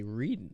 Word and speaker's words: Reading: the people from out of town they say reading read it we get that well there is a Reading Pennsylvania and they call it reading it's about